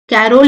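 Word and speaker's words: Corolle: और तो जो हंग्री फॉर गुड क्लोथिंग थी वहां पे उन्होंने क्या अपना कलेक्शन निकाला जिसको हम बोलते हैं कैरोल लाइन। ठीक है? तो ये आपको स्पेलिंग पता होनी चाहिए।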